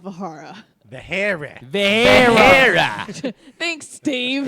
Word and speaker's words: Vahara: Vahara. Thanks, Steve. It's pronounced Vahara.